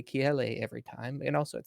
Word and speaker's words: Kiele: And so the English pronunciation is Kylie, which is kind of like what I go by for like work or whatever. And then the Hawaiian enunciation is Kiele.